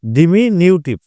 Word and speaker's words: diminutive: পড়তে পারে আপনার ডিমিনেটিভ আমি উচ্চারণটা বলে দিচ্ছি ডি আই এম আই এন ইউ টি আই ভি ডিমিনিউটিভ এটা তো আমি জানি